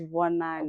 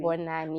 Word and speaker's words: Vonani: So any pronunciation is okay. You can call me Vonani or you can call me Vonani. But the Vunani. right pronunciation is Vonani. Vonani, which means Vonani, like, look at this.